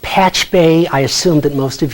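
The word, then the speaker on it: Pachube: It's pronounced Patch Bay.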